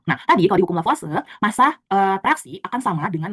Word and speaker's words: Lavoisier: Yang pertama kita bakal belajar yang disebut dengan hukum kekekalan massa atau hukum Lavoisier. Jadi kemarin aku sering bacanya hukum Lavoisier gitu, tapi kata dosen aku misalnya karena dia tuh dibaca hukum Lavoisier.